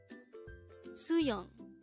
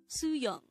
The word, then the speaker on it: 수영: Suyong. Suyong. This is pronounced as a two-syllable word. The first syllable is su, and the second syllable is yong.